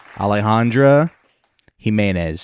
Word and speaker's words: Alejandra Jimenez: I don't want to</b> <b>mispronounce your name.</b> <b>Please don't. Alejandra Jimenez.</b> <b>Thank you.